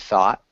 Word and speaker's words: thought: thought thought yeah so we don't pronounce the gh it's silent and really there's no you either so it's just thought can you repeat thoughts good thought that sounded